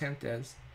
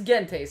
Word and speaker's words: Gentes: I think it's pronounced Hentes. It's anyway, Gentes in Latin. Gentes. Gentes is people. Gentes. Is it people? Yes. Then it's Gentes. It's Latin.